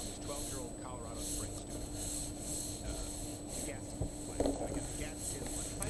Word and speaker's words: Gadsden: But I'll sometimes say Gadsden, sometimes I'll say Gadsden, but I know it's Gadsden flag. You can admonish me in advance. It's a tough one for me. Otherwise pronounced America.